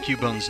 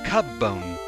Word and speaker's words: Cubone: don't think so yeah someone earlier brought up the question of the pronunciation of cubone's name since it's a child Pokémon they suggested maybe it was Cub bone like a cub however in both the anime and the 3D uh the 3D Pokédex Pro it is pronounced Cubone wrong